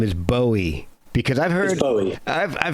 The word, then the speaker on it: Bowie: put that one to rest because it's definitely bowie yeah that's that that was definitely his his pronunciation so that led on to a kind